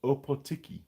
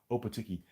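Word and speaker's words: Ōpōtiki: to a little place called opotiki that's how I pronounce it because it's a weird place upper Tiki and it's a funny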